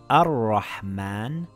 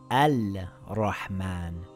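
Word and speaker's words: الرحمن: The lam becomes silent. It reads Ar-Rahman and not Al-Rahman.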